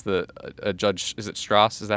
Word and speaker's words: Stras: they multiple times that a judge is it Strass is that how you pronounce it? Yeah, Strass.